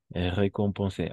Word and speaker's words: récompensé: Récompensé. Ah, estas dos se pronuncian igualito. Recompensé. ¿Cuál de las dos? Récompensé, Es récompensé. el primero.